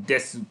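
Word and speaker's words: です: Hát úgy jönnek, hogy desu, de az betűt itt nem kell kiejteni. Vagy ha kell, akkor inkább ü. Hogy desu ka.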